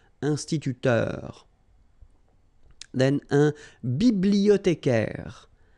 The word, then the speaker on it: bibliothécaire: Then un bibliothécaire. Remember, in French, the H doesn't exist, so you don't pronounce it. Bibliothécaire. Un bibliothécaire.